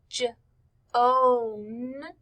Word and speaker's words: Joan: girl's name is joan look how the word joan is spelled j o a n when we say it j om the o a make the o sound joan got up we